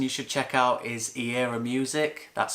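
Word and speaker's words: Eirra: information another person you should check out is era music that's spelled e i double r a and you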